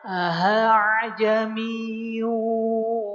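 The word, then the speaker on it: أَأَعْجَمِيٌّ: Kata terlihatnya seperti ee bacaan a'jamiyun. A'jamiyun di surah Fusilat pertengahan ayat yang ke-44. Namun bacanya ini simpelnya adalah ahajami wa arabi seperti aha. Ahajamiu wa arabi.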